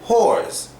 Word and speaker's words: whores: But when you're saying whores, the W is basically silent and the S becomes a hard Z.